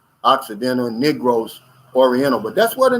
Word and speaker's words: Negros: negroes you know and it's but we we pronounce it negros occidental negros oriental but that's where the name comes from